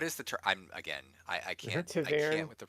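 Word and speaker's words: ta'veren: I can't Taverin. with the pronunciations. But what is it? What The Taverin. Taverin? Is that what you're- Taviran?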